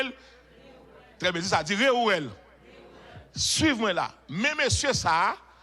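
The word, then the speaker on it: Réuel: Comment prononcer le? Très bien, ça dit Réouel.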